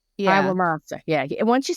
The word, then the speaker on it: Iwamasa: His assistant, Kenneth, I can't pronounce his last name. I can't read. It's Iwamasa? Yeah. Iwamasa.